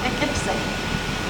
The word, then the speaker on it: Poughkeepsie: So the Dutch called it Poughkeepsie, and some of the other people shortened it by calling P-I-K-I-P-S-I, Poughkeepsie.